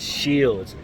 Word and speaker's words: Scheels: at shells shields and i can finally tell them how to pronounce it it's called shield it's shields now we're at shields